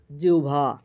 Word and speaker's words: জিহ্বা: জিহ্বা এর উচ্চারণ জিহ্বা।